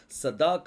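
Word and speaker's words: צדק: அடுத்த 3 எழுத்தை நீங்கள் உச்சரிச்சிங்கன்னா சதாக் அப்படின்னு சொல்லி வரும். சாடே, தாலத், அடுத்தது கோவ்.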